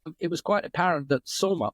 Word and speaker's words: Soma: was quite apparent that soma or Som as it it should be more correctly pronounced I suppose or Som Ras the